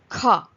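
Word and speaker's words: ख: Try pronouncing it with your hand over your mouth and you will get the correct pronunciation. Like if you keep your hand over your mouth, kha, kha. There is a puff of air which is released from your mouth when you speak kha.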